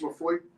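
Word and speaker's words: Laphroaig: It's Lafroig. And where it comes from, spelled I-S-L-A-Y, but it's pronounced Isla.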